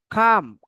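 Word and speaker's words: calm: আর harmful, harmful যে মানে American শব্দ আর উচ্চারণ করে, হার্মফুল, ক্ষতিকর। অ্যাক্টিভ, সক্রিয়, কর্মঠ, তাই না, অ্যাক্টিভ, কর্মঠ আর সক্রিয়। খাম, খাম অর্থ কি, শান্ত।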